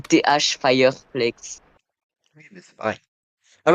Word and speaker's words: Thfireflex: C'est TH Fireflex.